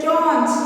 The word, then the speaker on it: staunch: Next word is staunch. It is a new word for you. S-T-A-U-N-C-H. Staunch. The word is staunch. S-T-A-U-N-C-H. This pronounced as staunch.